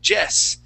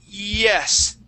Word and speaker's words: yes: So if you see that word yes, you don't want to say jess. You want to say E-S, E-S, E-S, yes.